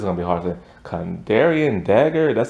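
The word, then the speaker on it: Kandarian: has to come oh it's gonna be hard condarion dagger that's how you say it and um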